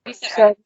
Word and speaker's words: Schroeder: How do I pronounce that? Schroeder.